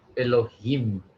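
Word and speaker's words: אֱלֹהִים: like a long uh it's not it's not long so it is kind of a shorter sound okay um yeah so so you pronounced it well it's elohim okay uh second one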